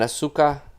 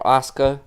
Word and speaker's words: Asuka: I like to call her Asuka. Asuka. Yeah, I'm also from Serbia, so we don't spell every letter. Each letter has a sound. So her name in Serbian would be right.